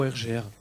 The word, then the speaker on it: ARGR: Alors, donc Argre, ça existe depuis, je prononce bien Argre ou RGR? Bah, c'est un peu comme on veut, mais après nous, notre signification c'est plutôt Argre, ça nous parle plus.